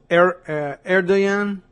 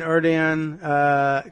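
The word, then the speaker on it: Erdoğan: Erdogan? Is that how we decided to do it with the G as a Y?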